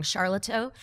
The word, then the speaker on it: Sharlto: the difference in, and I always say his name wrong, Sharlto Copley?